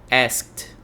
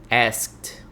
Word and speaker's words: asked: d Olha a pronúncia asked asked asked veja que esse Ed a gente pronuncia como se fosse um t Imagine que no lugar